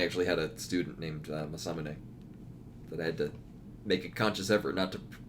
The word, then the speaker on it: Masamune: Yeah, the Mesa Mew. Well, I mean, it's Masamune. Yeah. Yeah, I guess masa like cornmeal, not mesa like a hilly plateau.